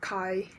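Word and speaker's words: χ: It looks like a x but it pronounced as kai.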